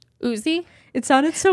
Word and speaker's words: Uzi: say his name right Uzi it sounded so the more you say Uzi it's just like Oozy yeah like boozy because his name's like Usman right so it's like Uzi I mean I love